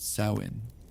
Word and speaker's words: Samhain: Samoin pronounced sain, the ending of warmth, the beginning of descent.